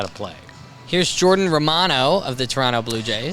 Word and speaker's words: Romano: So I always call him Jordan Romano because that's how we would say it in our country. But in Canada, they pronounce it Jordan Romano. So he pronounces his name Jordan Romano, and everyone who does the team, broadcasters call him Jordan Romano because he said, that's how you pronounce my name.